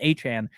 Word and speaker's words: Etienne: His last name is not pronounced Etienne, it's pronounced A-Chan.